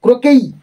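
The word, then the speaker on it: croquet: ইন a game of ক্রোকেই মানে এর প্রোনাউন্সিয়েশনটা হবে ক্রোকেই তো ক্রোকেই নামক একটি খেলায়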